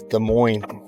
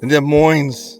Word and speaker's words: Des Moines: I don't know what they teach in geography school anymore, in geography class, but it's Des Moines. The S is silent, it's French. Des like Moines. Des Moines, it's French, like Des Moines.